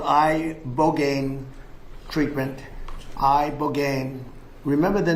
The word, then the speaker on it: ibogaine: Study from Stanford University, 30 special operation veterans with traumatic brain injuries underwent, it's called ibogaine treatment. Ibogaine. Remember the name. Is that pronounced relatively properly, would you say?